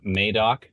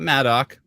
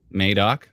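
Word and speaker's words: Madoc: uh uh near uh madok not Maddock madok clarify everybody gets very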